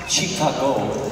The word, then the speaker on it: Chicago: Actually, it's pronounced Chicago, which is Algonquin for Cubs win, Cubs win.